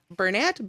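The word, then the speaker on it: Bernat: to bounce right out of the basket it's pronounced burnett bounce back there we go now this one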